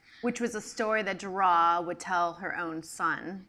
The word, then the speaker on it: Duras: I didn't know it was pronounced Duras until you started speaking.